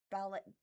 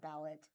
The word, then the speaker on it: ballet: Um, Springfield Daily Citizen Springfield Ballet, not ballot, ballet will mark 50 years with 2026 to 27 season.